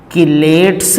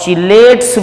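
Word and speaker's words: chelates: 6 you must know किलेट्स भी पढ़ते हैं और चिलेट्स भी पढ़ लेते हैं. तो जो आप पढ़ना चाहें वो पढ़ सकते हैं. दोनों प्रोनाउंसिएशंस यूज़ की जाती हैं.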